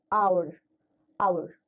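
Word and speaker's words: hour: Now the sound that comes here is our. It's not our, it's not pronounced. So H is not pronounced here.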